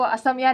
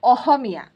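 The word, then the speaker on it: অসমীয়া: लिए देती हूं कि आपको असमिया नहीं बोलना है। आपको बोलना है ओहमिया तो लोगों को थोड़ा मुश्किल लगता है। तो लोग ह प्रोनाउंस नहीं कर पाते हैं। तो वो लोग ह प्रोनाउंस करते हैं। ओहोमिया बहुत ही मुश्किल से बोल पाते हैं। यह जो इसका जो सही उच्चारण है ह ना ख ना ह इनके बीच में से एक हल्का सा आवाज निकाला जाता है ह करके।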